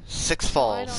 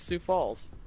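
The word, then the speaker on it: Sioux Falls: six Health though man six FS I know God damn you it's not even how it's pronounced what is it then SS it's Sue Falls yeah wait did you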